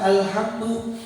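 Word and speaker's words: الحمد: Terkadang kita bacanya alhamdu, alif lamnya ada pantulan, padahal itu bukan merupakan suatu huruf qalqalah.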